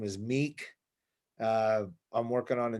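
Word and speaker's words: Mek: other than that um meek is my band it's spelled m-e-k like mech but it's meek uh band uh you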